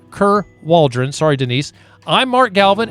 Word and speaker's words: Ker Waldron: did go here and Denise curve Aldrin Kerr Waldron Denise I'm still killing your name I'm gonna say it correctly Denise Kerr Waldron sorry Denise I'm mark